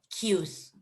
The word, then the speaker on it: queues: is a synonym like four lines like filas cues okay very good so in here what is